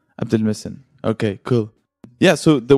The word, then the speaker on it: Abdulmohsen: say it actually yeah that's actually close yeah abdel messen abdel messen okay cool yeah so